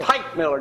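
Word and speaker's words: Teichmiller: Tightmiller, don't forget tomorrow, bring an eye test over here where we can take an eye test on the show. And it's spelled Teich. Tightmiller.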